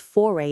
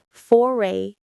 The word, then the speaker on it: foray: time, that's your first foray into art. The pronunciation is foray into. Foray into the stress is on the first syllable of foray.